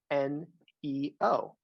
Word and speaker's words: NEO: The team I work on affectionately goes by the acronym NEO. Pronounced Neo, yeah, just like the movie The Matrix.